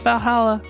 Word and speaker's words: VA-11 HALL-A: The name sounds silly and a bit hard to pronounce. Good thing it's actually called Valhalla. The funny numbers and letters are just a code.